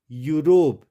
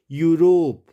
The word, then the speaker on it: Europe: जब शब्दों में ई के बाद यू हो तो उसको हम यू के रूप में पढ़ेंगे, यूरोप, EUROPE, यूरोप। ई साइलेंट कब होगा?